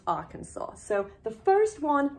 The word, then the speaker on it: Arkansas: you say Arkansas Arkansas it smells like it might be our Kansas but it's actually pronounced Arkansas so the first one